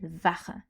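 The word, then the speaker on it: Wache: Il faut savoir pour les nonger germanophones que le mot garde ou sentinelle en allemand se dit var et s'écrit W A C H E.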